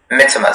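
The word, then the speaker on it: mittimus: Mitimus.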